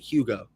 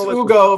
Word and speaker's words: Hugo: Is it Ugo or is it Hugo? Hugo. I keep hearing Ugo. You dropped the H. Ugo. So it is silent H.